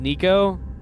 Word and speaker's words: Nico: Hey, speaking of female artists, have you listened to, I think her name's pronounced Nico? N-I-C-O?